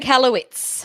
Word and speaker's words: Michalowicz: Michalowicz.